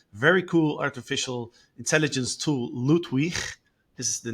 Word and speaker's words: Ludwig: cool artificial intelligence tool loot we this is the name um as you like I pronounce it the German way you know I'm not